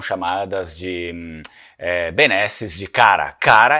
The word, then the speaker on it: Kara: Cara é uma palavra em venético antigo que se escreve no alfabeto latino em K-A-R-A, só que era escrito em runas, né?